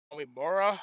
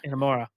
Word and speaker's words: Inamura: Next match, Coling defeated Josh Briggs and Yoshiki Omimura. I can't pronounce that last name. Inamura. Thank you.